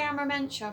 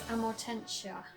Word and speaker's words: Amortentia: I usually say Amormentia for some reason, but the correct pronunciation and the answer is Amortentia.